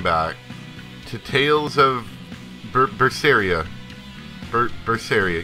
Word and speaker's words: Berseria: 250 and welcome back to tales of porphyria verse area yes that's how you say it I messed it up a couple times last time it's not first first area first area cinnamon we're back now